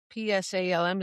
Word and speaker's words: Psalm: Psalm P S A L M, is that how you say it?